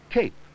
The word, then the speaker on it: cape: it's c a p Cape it has a final e the vowel a comes before it the final e gives a the long sound what is this it's